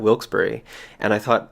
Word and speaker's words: Wilkes-Barre: this town all along so i've been pronouncing wilkes bar in my chorus as wilkes bar not wilkesboro and i thought like